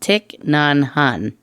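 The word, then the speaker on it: Thich Nhat Hanh: to you the Buddhist I think it's pronounced tick nanhan yes there's like three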